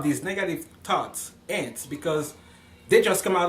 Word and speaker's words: ANTs: can t as is also called ants I pronounce that ants it's an acronym and it's it's just like